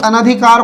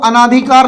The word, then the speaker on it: अनधिकार: तो उच्चारण आपको सही करना है सबसे पहली बात। तो उच्चारण कैसे करना है, अनधिकार, तो अन धन अधिकार बराबर अनधिकार, ठीक है।